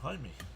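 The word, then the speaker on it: Jaime: It's the Spanish pronunciation. Hi, me.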